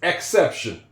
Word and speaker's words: exception: It's not exception, it's exception. That E is going to make the soft soft E sound. E X X X. This is a soft C. It's going to make the sound s exception.